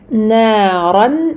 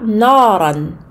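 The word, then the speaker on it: نَارًا: Naran, naran, nun, amincie, ra, emphatique. Donc, naran n'est pas naran. Donc, il faut absolument ici amincir le nun.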